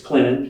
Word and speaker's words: Clinton: you are you know it's it's Clinton it's where uh the the te is silent but it's always sweet